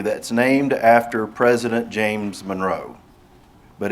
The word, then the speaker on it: Monroe: Risa and I are from a town in Union County that's named after President James Monroe. But it's not, the town is pronounced Monroe.